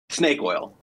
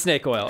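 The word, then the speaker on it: SNVKE OIL: right on yeah so how do you pronounce it sck oil snake oil just snake oil okay you idiot hey okay it's s NV k e o i l you pronounce obviously snake actually no I actually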